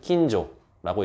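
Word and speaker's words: 今上: 그렇기 때문에 그냥 덴노 천황이라고 부르든지 금상천황, 지금 위에 있는, 올라와 있는 천황, 일본에서는 킨조라고 읽기는 금상천황이라고 부릅니다.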